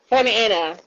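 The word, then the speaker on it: Santa Ana: i saying it right said anton family yeah santa anna that's it yes i would be outstanding well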